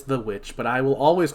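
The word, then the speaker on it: The VVitch: No, I know it's The Witch. Years from now. I just think it's funny to call it the Vivitch because that's how it's spelled.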